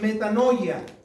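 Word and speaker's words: μετάνοια: Es una palabra griega que se pronuncia metanoia y significa un cambio de mente, un cambio de opinión.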